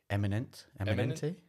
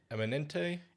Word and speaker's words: Eminente: So I don't even know how you pronounce the main bit. It's Ron de Cuba. What's that? How would you say that? Eminente. Eminente.